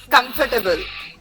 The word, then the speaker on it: comfortable: So whenever you are Comfortable. eliminate the R. You are saying comfort, not fur. That fur you remove it. Okay. Comfortable.